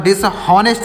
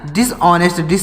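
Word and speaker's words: dishonest: डिस ऑनेस्ट डिस ऑनेस्ट यहां पर डिस नेस्ट नहीं पढ़ेंगे जो एच लिखा गया यह साइलेंट है तो यहां पर हो जाएगा डिस ऑनेस्ट डिसोनेंस होनेस यहां पर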